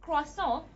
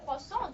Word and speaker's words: croissant: Okay, they pronounce it croissant, and instead of actually saying croissant, just like they say it in French, they actually pronounce the R sound.